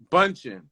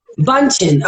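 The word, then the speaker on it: Bündchen: I'm not sure how to pronounce her last name, but I'm just gonna say Giselle. How you say it? Bunchen. Bunchen.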